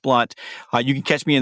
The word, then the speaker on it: Blount: And my last name is spelled Blount, although it's pronounced Blunt.